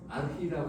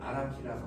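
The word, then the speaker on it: архи: 현대 몽골어 발음은 아르히라고 합니다만은 고전 몽골은 아라키라고 하고요. 이 아라키라는 말에서 아랑주, 아락주, 아랭이라는 말이 나왔죠.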